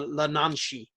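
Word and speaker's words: yee naaldlooshii: And the Skinwalker legend is originally from the Navajo tribe, and it's pronounced the Lananshi.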